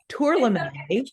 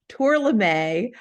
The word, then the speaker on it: Tourlami: we had the conversation pronounced incorrectly tournament right so everyone knows on the call it's tour Lemay uh plant B yeah